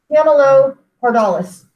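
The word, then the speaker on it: Camelopardalis: have cepheus cassiopeia and then the giraffe is pronounced camilo pardolis that's not one that most people talk about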